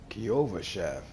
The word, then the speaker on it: Kyovashad: Kyovashad. That's how you pronounce that name.